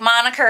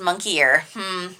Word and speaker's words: moniker: Like, moniker is not pronounced monkey ear.